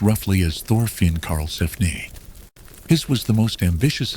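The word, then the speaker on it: Thorfinn Karlsefni: The next major expedition was organized by a man named Thorin Carlphan, pronounced roughly as Thorin Carlphanne.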